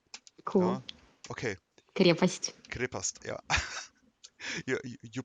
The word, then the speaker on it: Крепость: Krepast. Cool. Okay. Крепость. Krepast. Yeah. you pronounce it.